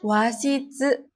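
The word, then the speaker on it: 和室: Ya, dibacanya wa. Lalu yang keduanya, washitsu.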